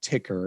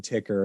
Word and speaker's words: Tykr: that leads to a platform i created called ticker it's spelled t-y-k-r and it's it's think of it